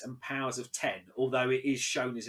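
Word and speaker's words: Powers of X: together and it is house of x and powers of ten although it is shown as an x but it's pronounced players of ten um jonathan hickman comes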